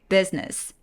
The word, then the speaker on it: business: 중간에 I를 날려버리는 거예요. business business They want to do more business with us.